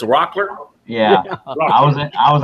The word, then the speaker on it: Rockler: I call it h you say rockier you say rock rock and it's Rockler yeah I was I